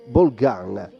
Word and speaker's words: Bolgan: Bolgan, l'accento è così perché il nonno era veneziano.